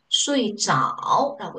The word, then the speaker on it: 睡着: 그래서 저라고 읽으시면 안 돼요. 결과보일 때는요. 睡着라고 읽어주셔야 돼요.